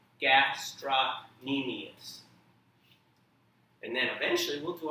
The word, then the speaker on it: gastrocnemius: on the screen and do your best to pronounce it everybody say gastronemius and then eventually we'll do our whole bone